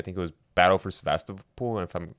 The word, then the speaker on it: Sevastopol: Sevastopol, I think is how you pronounce it in Russian.